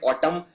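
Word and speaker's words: autumn: बाद एन आता है ये एन उच्चारण नहीं किया जाता सिर्फ बोलते हैं ऑटम लेकिन आखिर में एन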